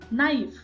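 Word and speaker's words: ナイフ: नाइफ, नाइफू, नाइफू। तो ई जो है उसको हमें प्रोनाउंस नहीं करना, ये भी ध्यान में रखिए।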